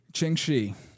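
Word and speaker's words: Ching Shih: a woman okay what's her name and please pronounce it correctly Ching shei all right the prince Queen who outsmarted Empires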